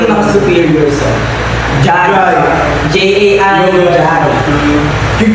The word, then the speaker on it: Jai: Jai. J-A-I. Jai. You call Jai, ew! Like- Spell it out!